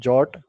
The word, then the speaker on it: JWT: So, the today's agenda for this talk will be what is JWT, or as it is pronounced JOT?